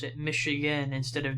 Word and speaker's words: Michigan: way we pronounce it michigan instead of michigan definitely hints to its french origin because the french pronounce the ch as a sha commented in english cha